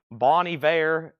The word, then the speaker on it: Bon Iver: yeah same thing with Bon ior or seor Ross what is Bon ior again bony be last time I checked I'm not from France Bonnie ve and and SE seor